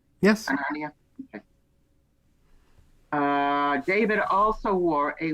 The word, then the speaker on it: Hananiah: Am I pronouncing that name right? Yes. Hananiah?